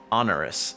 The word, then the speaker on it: onerous: do you pronounce that on onerous or earnerish how do you pronounce that onerous onerous involving an amount of effort and then impressively burden burdensome how to pronounce it there we go onerous okay okay so you're